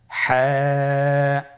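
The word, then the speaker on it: حاء: পরবর্তী হরফ আমরা যেটা শিখবো সেটা হল হা। হা এর মধ্যে কোন নুক্তা আমরা দেখতে পাচ্ছি না। হা হরফটি কিভাবে উচ্চারিত হবে? হা হরফটি উচ্চারিত হবে কন্ঠনালীর মধ্যখান হতে। গলা চিপে ধরে আপনি উচ্চারণ করুন।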